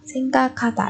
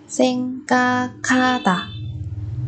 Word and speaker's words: 생각하다: Ở đây chúng ta có biến âm các và ha đọc thành ka kha. Seng ka kha ta. Bởi vì bà chim kia giọt kết hợp với phụ âm hiệt thành phụ âm bật hơi.